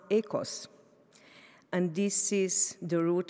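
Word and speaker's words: οἶκος: family Greek Greeks tell me that it is pronounced echoes and this is the root for both economy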